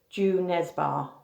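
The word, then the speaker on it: Jo Nesbø: called the snowman by joe nesbo the author is norwegian and he it's actually pronounced ju nesbar but i don't suppose that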